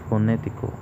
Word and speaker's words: fonético: Por lo menos, en la palabra fonético, la sílaba tónica es la sílaba ne, porque es donde recae la mayor fuerza, la mayor intensidad.